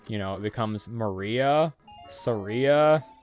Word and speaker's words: Saria: Yeah, my entire family always called her Soraya, but when I heard the correct pronunciation of her name being Saria, I still hate the